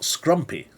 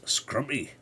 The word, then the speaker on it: scrumpy: was going to say you have to say it properly because it's not scrumpy it's scrumpy oh like's a bit scrumpy me nice bit scrumpy it's bit like scampy but slightly different scampy scrumpy yeah there